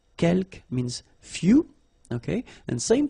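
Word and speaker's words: quelques: Uh you don't pronounce the final S here. Keelk means few.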